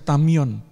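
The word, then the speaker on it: ταμεῖον: Yunani dipakai kata-kata Hai tulisannya tameon bacanya tameon yaitu sebuah gudang lumbung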